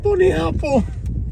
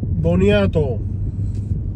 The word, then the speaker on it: boniato: You said bunny apple.